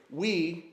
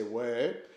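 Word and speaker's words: oui: had taught me that they don't say we as in yes in French they say way and so the kqu pronounce it way and so a couple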